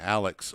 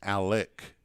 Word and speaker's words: Alec: linebackers for the pirates i pronounced his name alex all all game last week but it's alec gomez king with a h-back